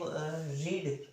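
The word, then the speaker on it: read: Second form होती है, first form रीड और सेकंड होती है रेड। लेकिन रेड भी क्या वैसा का वैसे ही आएगा, स्पेलिंग चेंज नहीं होगा, बोलने में चेंज हो जाएगा, है ना।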